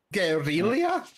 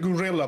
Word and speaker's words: guerrilla: I thought it was going to pronounce guerrilla. Like, almost like gorilla, but guerrilla. Yeah, I think it's specifically said to be different to avoid, well, gorilla and guerrilla confusion.